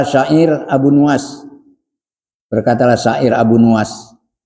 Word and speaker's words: Abu Nuwas: Qala syair Abu Nuwas, berkatalah syair Abu Nuwas, ada yang bacanya Abu Nawas, bidomin nuni, dengan domah nunnya, Abu Nuwas, wabil wawi, dan dengan wawu Nuwas.